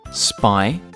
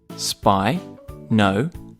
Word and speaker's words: Spinosaurus: Spinosaurus. Can you say it with me? Spinosaurus.